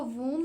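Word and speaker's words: whom: उसके बाद है हुम। हम इसको हुम नहीं पढ़ते। हम इसको हुम पढ़ते हैं। इस वर्ड को प्रोनाउंस किस तरह करते हैं? हुम। अब जो डब्ल्यू है ना ये इसलिए यहां पर साइलेंट है क्योंकि ये लिखा तो रिटन तो है बट हम इसको प्रोनाउंस नहीं कर रहे।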